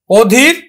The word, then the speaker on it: অধীর: আদ্য, দেখো এই যে নেতিবাচক অর্থে আমার আদ্য অটা কিন্তু অ এর মতোই উচ্চারিত হবে, অধীর, অধীরে উচ্চারণ হবে, অধীর। দীর্ঘইকার আছে, কিন্তু তারপরও কিন্তু অধীর, অধীরে উচ্চারিত হবে, অধীর।